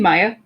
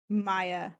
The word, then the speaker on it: Maja: with Christian later with Maja. Oh my god, I love this shit. Oh my gosh. Also, do you mean Maya? Yeah. I know it's spelled Maja, but like Maya.